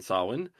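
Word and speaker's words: Samhain: One word I do know how to pronounce is sawin, an old Gaelic festival which begins the night of October 31st.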